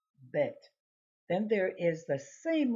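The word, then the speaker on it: בּ: a slash interview because if it has a DOT it would be bet then there is the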